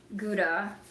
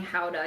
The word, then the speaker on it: Gouda: I asked him if he had gouda. I still feel weird saying howa even though I think that's how it's supposed to be pronounced.